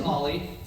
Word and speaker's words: Aly: it my name is olly it's uh spelled like Ali a l y pronounced like olly o l i e but when you look at me you think Ai and it's always been